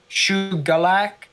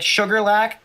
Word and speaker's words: Shuqualak: someone said in the chat that it might be pronounced like Shugalak, so like with a G instead, which kind of makes sense a little bit. So like Sugarlac, but like Shugalak.